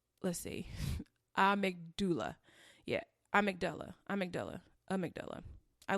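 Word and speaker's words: amygdala: hippocampus and the let's see a mcdull yeah a mcdull a mcdull a mcdull I looked it up that's how you pronounce it it's a y g d a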